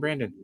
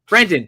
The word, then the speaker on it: Brendan: Just make sure you get the Bren.